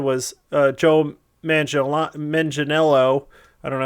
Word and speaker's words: Manganiello: there's a bunch of announcements this week for D&D, and one of the things they said was Joe Manganiello.